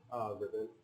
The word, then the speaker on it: Rybbon: Rybbon. Rybbon. Or people always pronounce it as Rybbon because it's spelled with a Y.